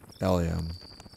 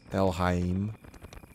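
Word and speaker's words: Elhaym: eliam i don't know i think that's hebrew i have no idea what the actual pronunciation is i've always said eliam el hey i think it's el hyem would be the actual way to say it but i've always pronounced it in my head as ellium la el heim so that's how we're gonna say it but my parents call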